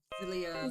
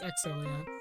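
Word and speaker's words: Xillia: play Pikman zilia zilia is it zilia or exilia it's exilia I pronounce exilia it's exilia exilia I feel like it's going to be X yeah it be like X di not diagonal X like the extreme the extreme X yes extreme it just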